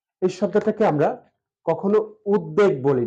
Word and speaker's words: উদ্বেগ: আর বাস্তু মুক্তাক্ষর তো আমরা এই শব্দটা এভাবে উচ্চারণ করতে পারি বা লিখতে পারি উদ্বাস্তু আছে উদ বেগ এই শব্দটাকে আমরা কখনো উদ্বেগ বলি না যদিও বলা হয়েছিল যে ব ফলা